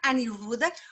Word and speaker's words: Aniruddhan: going to pass the word and say welcome aniruda hopefully i'm pronouncing it your name correctly i hope so